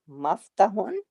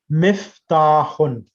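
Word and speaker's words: مفتاح: Haza Maftahun. Miftahun. How do you say it? Miftahun.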